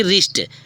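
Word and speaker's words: wrist: भी English word में यदि डब्लू के तुरंत बाद आर आए तो डब्लू साइलेंट हो जाता है इसको आप जानते हैं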